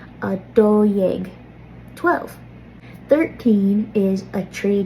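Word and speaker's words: dó dhéag: So instead of jeg, this is yeg, a do yeg.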